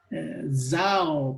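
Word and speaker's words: ζάω: La Z se pronuncia así como Z. Zao, por ejemplo, vivir. Zoe, vida. Z. Ese sonido. Zeteo, buscar. Pero la gente no lo pronuncia así, lo pronuncia zeteo.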